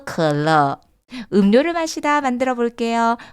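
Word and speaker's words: 可乐: 컬러, 발음을 들으면 딱 이게 뭐 어떤 건지 연상이 될 수 있고요. 그리고 그 한자가 가지고 있는 뜻도 너무 좋다고 말씀을 드렸습니다. 마시면 마실수록 즐겁다. 읽어보실게요. 컬러.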